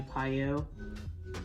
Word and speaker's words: PiYo: My daughter wants to do Piyo. Is that how you pronounce it?